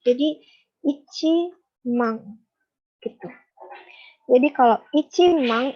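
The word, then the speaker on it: 万: Jadi kalau nolnya 4 ini itu bilangnya itu mang. Mang. Ya. Nah, jadi kan di sini nolnya 4 mang. Nah, depannya kan angka 1. Jadi ichi mang.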